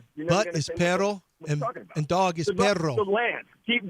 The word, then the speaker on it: pero: Uh pero.